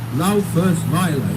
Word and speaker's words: Laufersweiler: Laufersweiler. You know, we've got four syllables there.